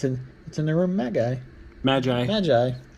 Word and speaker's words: Magi: Magi. Dude, you pronounced it right in the title of the game. Yeah. Maggie!